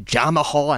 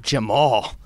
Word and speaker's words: Jamahal: they mispronounce the name they call you jamahal and not jamal they got a lot of mispronunciations i mean but it is what it is i know i gotta my name isn't spelled regularly so yeah so anybody out there is jamal it's just jamal yeah you know what